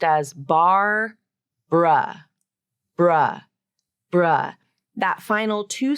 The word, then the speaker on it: Barbara: the word Barbara so here we have a fun little reduction of that final uh syllable the first syllable is